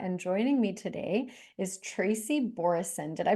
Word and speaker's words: Tracy Borreson: I am your host, Ralitza Spassova, and joining me today is Tracy Borreson. Did I pronounce that correctly?